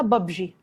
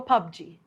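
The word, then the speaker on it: PUBG: رقم 1 بابجي، كتير قوي مننا بيقولها ببجي، وكتير تانيين بيقولوها ببجي، بس النطق السليم بتاعها هو بابجي.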